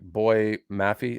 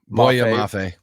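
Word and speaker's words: Boye Mafe: Is it like Boy Maffey? Is that how you Boy pronounce it? Mafe. Boya Mafe. Boya Boya Mafe.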